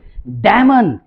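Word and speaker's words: damn: जैसे देखिए डैमन, इसको डैमन नहीं पढ़ा जाता है, एम और एन जब साथ में आ जाए तो डैम पढ़ा जाता है। ठीक है, यानी एन साइलेंट होता है।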